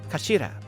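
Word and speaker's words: 頭: of the hilt it's written as head in japanese but it's pronounced as kashira i believe shira this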